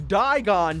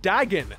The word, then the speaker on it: Dagon: sure the ancient dragon digon doesn't come back dagon is his name and how it's pronounced actually so old george